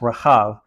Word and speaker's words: Rahab: It's spelled the same in English. There's like a little tiny mark that creates all the difference in Hebrew. It is pronounced Rahab.